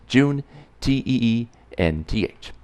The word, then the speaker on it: Juneteenth: be talking about Juneteenth that's pronounced joon-tae and th now they've shared an